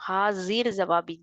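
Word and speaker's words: हाज़िरजवाबी: ஹாசிர் ஜவாபி, jack கீழே டாட் இருக்கணும், இசட் சவுண்ட்ல தான் ப்ரொனவுன்ஸ் பண்ணணும். ஹாசிர் ஜவாபி அப்படிங்கிறது யோசிக்காம இமீடியட்டா கரெக்டான ஆன்சரை கொடுக்கக்கூடியவங்க.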